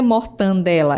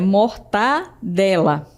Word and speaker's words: mortadela: A palavra não é mortandela, é mortadela. Perceberam? Então não tem esse N.